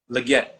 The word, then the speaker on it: Legette: How do you pronounce your last name? Legette.